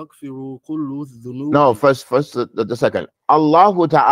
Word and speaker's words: Allah: not saying Allahu because when we say Allah we're not saying that ha at the end we're just saying Allah of Noah or anything